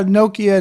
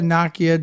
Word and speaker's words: Nokia: how noia so yeah Nokia Nakia depending on where you live that's you know that's how it's pronounced there was speculation that